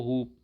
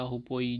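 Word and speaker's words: hoopoe: अंग्रेजी में हुदहुद को हुप, मतलब अब तुम जो प्रोनाउंस करना चाहो, हुप या हुपोई जो को बोलो, मतलब बस स्पेलिंग याद कर लो, HOHOPOE, है ना।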